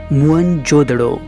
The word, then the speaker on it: मोहनजोदड़ो: मोहनजोदड़ो शब्द का सही उच्चारण है मोहनजोदड़ो और सिंधी भाषा में इसका अर्थ है मुर्दों का टीला।